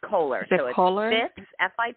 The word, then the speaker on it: Koehler: and then um may I ask how you pronounced your last name it's Coler teer and my business is Fitness fitzness yes